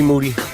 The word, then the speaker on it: Moody: Moody, last name rhymes with duty.